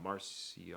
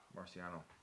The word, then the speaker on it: Marciano: know that he's a huge rocky martial uh marcia uh marciano that's right thank you fan uh i was i was afraid to pronunciate that because i knew when that was